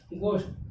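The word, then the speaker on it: ghost: क्या हो गया, गोस्ट, गोस्ट में क्या आया, G के बाद क्या आ गया, H आ गया और O के पहले भी H आ रहा है। इसमें दो रूल मिले, G के बाद H आया और O के पहले H आया तो क्या हो गया, H, H हो गया साइलेंट।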